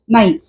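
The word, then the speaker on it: knife: सुरी उच्चार उच्चार के उच्चार म्हणजे केचा उच्चार जो आहे तो क त्या क पासून आपण उच्चार करतच नाही क नाईफ असं नाही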